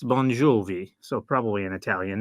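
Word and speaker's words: Bongiovi: it's probably an Italian name given the way it's spelled and the way it sounds it's bonj jie so probably an Italian name um but I'm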